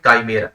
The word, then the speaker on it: chimera: ये जो वर्ड है इस वर्ड को बोलते हैं काइमेरा। क्या बोलते हैं, ये वर्ड बोला जाता है भाई काइमेरा, ना तो ये चिमेरा है ना तो ये शिमेरा है।